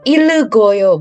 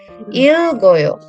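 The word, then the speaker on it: 읽고요: Nah, jadi dibacanya bukan ilgoyo. Bukan, bukan ile, tapi il aja. Ilgoyo.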